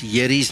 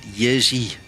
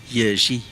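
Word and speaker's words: Jerzy: Anyway, guys, I was saying Yeri all these years. He says to me, no, that's wrong. You pronounce it Yezi. So it's got a bit of a different way of pronouncing it. I think I'm still saying it a little bit flat. They've got a little bit more of a nice way of saying it, but it's Yerzy, basically.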